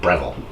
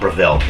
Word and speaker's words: Breville: I'm forgetting that's Bravo I think they said Breville not prevailed like I've been saying it rebel anyway doesn't matter